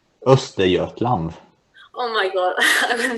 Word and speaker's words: Östergötland: Is how is it pronounced? Östergötland.